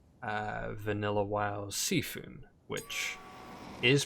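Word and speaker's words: C'Thun: would compare to let's say uh vanilla wild Seafood which is pronounced seafood and I'll explain why because despite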